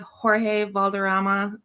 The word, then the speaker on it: Jorge Valderrama: So today we have Jorge Valderrama. I didn't actually ask you, did I pronounce that correctly?